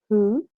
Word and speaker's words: who: okay, and this is another pronunciation of the same spelling, W and H, and we have who, so whole and whom. We do not pronounce the letter W, okay?